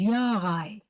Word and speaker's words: Jaray: called Bondi um and the second name is Yar in the German pronunciation yeah okay perfect thank